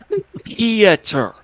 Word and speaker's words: Pieter: Peter. Okay, Your let me do this Yeah. one more time for everybody. Pieter. It's Pieter. 3 syllables.